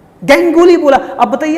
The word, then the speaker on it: गांगुली: Cricket बोला करते थे, गैंगुली बोला। अब बताइए, अब सौरभ गांगुली को गैंगुली बोला जाए?